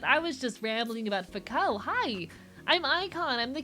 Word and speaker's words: Foucault: Saw multiple videos, and a streamer all pronounced it with the L silent a couple days ago. Cool, Foucault.